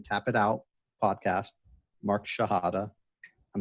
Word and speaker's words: Shihadeh: S as in Sam, H-I-H-A-D as in David, E-H, Mark Shihadeh. That's the American way of saying it.